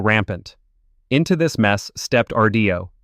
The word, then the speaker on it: Rdio: Into this mess stepped Rdio, pronounced RDO, with a proposition so